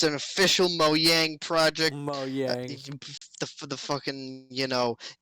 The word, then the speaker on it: Mojang: You and your Mojang. I could well, that's the proper way to pronounce it because it's Swedish, you know.